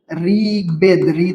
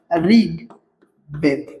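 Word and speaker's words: ঋগ্বেদ: ঋগবেদ। ঋগবেদ থাকলে ঋ উচ্চারণ র মত হয়। বলছিলাম ঋগ বেদ।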